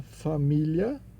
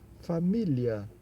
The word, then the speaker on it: Familie: Observe que aqui, família quebra a regra do IE, né? Que senão nós pronunciaríamos família, né? Mas de acordo com o IPA, né? Alfabético Fonético Internacional, esse E final tem um som de A, então família, como no português, né?